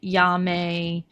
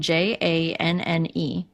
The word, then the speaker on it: Janne: It is spelled j a n n e. But cuz of Swedish, it's pronounced Janne.